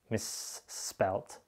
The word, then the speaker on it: misspelt: That's, of course, because miss is a prefix added to a word and spelt begins with an S, but you don't pronounce two S's as it's written. Misspelt, misled, misspelt.